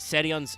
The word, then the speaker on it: Therion: But yeah, Therion, stand up. Which, by the way, doesn't have an exclamation point in Japanese, though it is pronounced Serion's stand up.